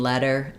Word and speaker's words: letter: syllable sounds the same the difference is that letter has the F vowel like in red and later has the